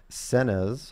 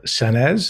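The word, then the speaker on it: Saenz: in question here is luis senes i believe that's how it's pronounced s-a-e-n-z and his phone number is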